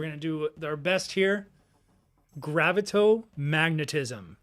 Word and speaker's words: Gravito-magnetism: Gravito-magnetism. How did I do, announcer? That was brilliant. I mean, it's different how I would pronounce it. I'd probably go gravito-magnetoism, but it's actually, yeah, you're right. It's gravito-magnetism.